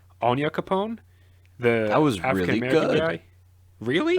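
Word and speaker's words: Onyankopon: Marley, because she and I'm gonna try and pronounce his name correctly, Anya Capone, That the was African really American good.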